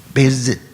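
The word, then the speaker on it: 杯子: 2 syllables? Bei what? Beizi.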